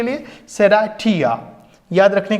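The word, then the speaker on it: Serratia: शेराशिया, pronunciation ऐसा है शेराशिया, okay. आप शेराशिया, लेकिन याद रखने के लिए सेराठिया, याद रखने के लिए सेराठिया, ओके।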